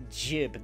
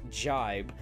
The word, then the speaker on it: jib: what that means think I believe it's pronounced jib not jibe but yeah I thought